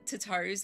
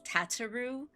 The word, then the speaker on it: Tataru: um he's still kind of playing catchup in MSQ, but um he always pronounces Tataru's name as Tataru.